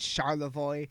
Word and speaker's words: Charlevoix: We got our own, like, we know how to pronounce Mackinac and Charlevoix and fucking shit like that. Charlevoix has an X in it, for anyone who doesn't know.